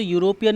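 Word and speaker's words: European: लेकिन जब आप इसे पढ़ेंगे तो यूरोपियन में क्या लगा हुआ है? यू आ रहा है प्रोनाउंसिएशन में, और जो यू है ये वॉवेल नहीं है, इसीलिए यूरोपियन के आगे एन नहीं लग के आ लगेगा।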